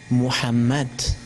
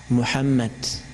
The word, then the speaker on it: Muhammad: español cómo se llama No se pronuncia H pero en lengua árabe sí se pronuncia por eso la palabra excelente muhammad muhammad no veo mujeres aquí